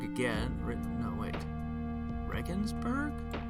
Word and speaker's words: Regensburg: this little index of cities alphabetical order I mispronounced rust resin burg again written no it Regensburg hold on our Ichi oh I'm sorry